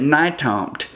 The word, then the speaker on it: Nytomt: name and he said nitomt i said that's that's an unusual last name how do you spell that and he said well it's like new york to montana n-y-t-o-m-t as soon as